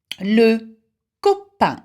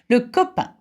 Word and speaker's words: copain: Le copain, or your pronunciation more like.